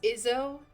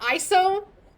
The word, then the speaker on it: Izzo: It's Izzo. Yeah, it is. Yeah, that's how I pronounce it. It's not ISO.